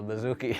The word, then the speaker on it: bouzouki: Rhymes with Suzuki, but it's called a bouzouki.